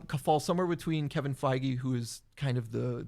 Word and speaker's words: Feige: the it's some Co falls somewhere between Kevin Feige who is kind of the that's how you